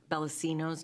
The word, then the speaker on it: Bellacino's: Move to approve a redevelopment liquor license application resolution for Landgate LLC uh AKA Bellacino Bella it's Bellacino's not Bella Okay.